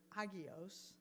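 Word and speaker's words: ἅγιος: The Greek word that is translated as saint is the word hagios. If you're interested, you would spell that Hagios.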